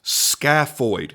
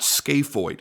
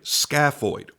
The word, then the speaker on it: scaphoid: of people in the comments going it's actually pronounced scafo not scoid scaffo I was like oh okay well the only